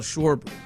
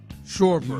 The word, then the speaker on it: Schwarber: Tyler uh reminded me um earlier that uh Oh, Kyle Schwarber. Sh. Shorbert. You literally said it right the first time. Yeah. Schwarber. Shorbber.